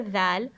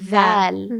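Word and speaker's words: دال: So to clarify, for the letter Dal, the articulation point or the way to correctly pronounce it is to put your tongue in between the top and bottom teeth.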